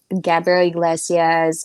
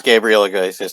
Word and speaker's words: Gabriel Iglesias: um i of course eddie murphy um i gabriel iglesias i'm sorry i i love the hispanic comedians um my wife loves gabriela gracias too and i said it wrong so but